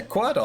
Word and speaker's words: Quordle: Yeah, Quordle. I think Quordle's pretty good. It's like Wordle, but there's 4 of them. It's spelled Quordle. You know, Quordle. Like quarter dull.